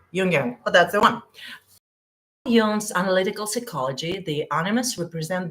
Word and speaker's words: Jung: Yeah, you pronounce him Carl Jung. Jung.